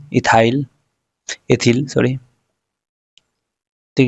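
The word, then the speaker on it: ethyl: एथिल नहीं इथाइल पढ़ते हैं इसको हम लोग इंग्लिश में डाईथिनो मेथिलोनेन।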